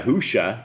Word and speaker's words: Yahushua: they cannot pronounce it Messiah yahusha it's like Joshua with a Y this is what we're